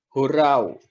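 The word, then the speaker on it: ὁράω: Yang kedua adalah melihat secara rohani, yang disebut sebagai hurau. Hurau. Kalau tulisannya orau, tapi membacanya nanti ada hanya di depan.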